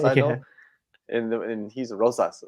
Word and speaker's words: Rosas: How do you say his last name? You said it right. Raul Rosas. Rosas, right? Rosas, right? I keep saying Rojas because that's like what's familiar to my tongue, Rojas.